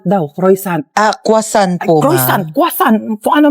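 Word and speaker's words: croissant: Croyant daw. Croyant. Ah quasant po.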